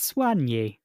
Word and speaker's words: soigné: the same definition sure but in French they've got the accent on the E but that's not the stressed syllable no it's Swan this is me doing a